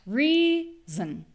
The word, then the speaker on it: reason: Reason. Zn. So just like with listen, that second syllable, in this case it's pronounced with a z sound, reason, but we hear a very quick little zn, zn, zn.